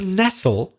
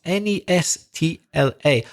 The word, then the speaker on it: nestle: To nestle, you'll hear as well. That's Nestla. Not Nestle, the chocolate That's maker.